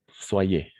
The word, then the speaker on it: soyez: Soyez.